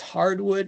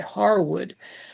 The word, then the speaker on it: Harwood: Gosh, is that guy's name always pronounced Hardwood? That poor guy. Harwood.